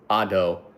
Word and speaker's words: Ado: Singer is pronounced ado, but it's spelt ado, like much ado about nothing.